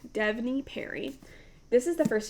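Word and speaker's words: Devney: I keep saying Devany or something and I keep saying it wrong. Devonyie Perry.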